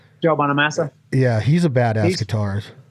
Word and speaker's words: Bonamassa: about joe bonham uh uh how do you pronounce his last name joe bonamassa yeah he's a badass guitarist he's great he's